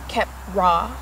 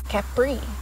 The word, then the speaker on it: Khepra: when it comes to Keppra kep raw is going to be how you're going to pronounce it that is going to be its original name you will also see it be pronounced as Capri which is okay and